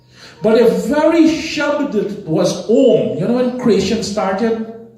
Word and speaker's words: Om: Om. A, U, Ma. 3 syllable.